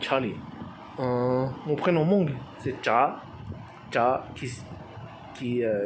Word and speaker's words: Tsav: Mon prénom Hmong, c'est Cha, qui s'écrit TSAV, tout chaud, tout A, tout qui va, tout V. Qui cha qui column sinh ya qui ya qui nichon